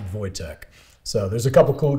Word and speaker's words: Wojtek: name something after this bear but yeah it's pronounced voytech so there's a couple cool documentaries about him